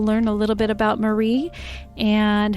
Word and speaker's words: Mare: about marie it's pronounced marie and you will see on the um episode it looks like it's spelled mare m-a-r-e but she pronounces it marie and it looks like